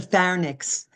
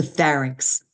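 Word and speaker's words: pharynx: and oral cavities there's a tube called the FX it's not the fix it's the FX pet peeve common Mis pronunciation so it's called the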